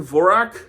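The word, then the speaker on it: Dvorak: uh D um Christian vorak I think the D is silent Tri Rish but that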